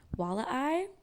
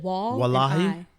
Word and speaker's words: Walleye: Walleye. It's w a l e. So w i. That's like wah eye.